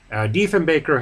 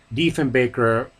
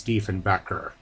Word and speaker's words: Diefenbaker: Diefenbaker even criticized Kennedy for mispronouncing his last name as Diefenbacher.